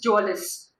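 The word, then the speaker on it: mjölis: Game of cards, which is Jolis. Mjolis, M is silent.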